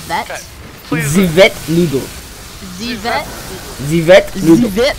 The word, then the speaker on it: Ze Vet: You are actually pronouncing the name wrong, and I think that is very offensive to the people. It's not vet. Am I saying that wrong? It's not vet. Okay. Zivet noodle.